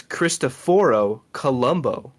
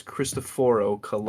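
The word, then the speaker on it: Cristoforo Colombo: name what his real his real name is christophor Columbo and that's how you actually pronounce his name in the original angulation where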